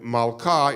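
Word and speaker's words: מלכה: form the same pattern there were a bunch of words in Hebrew that when you make them feminine the e sound changes to an ah so you have I'm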